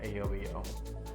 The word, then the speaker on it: Ayoba-Yo: brands and the adverse port industry just like a yo-yo that's pronounced stay tuned for another Reddy Eddy first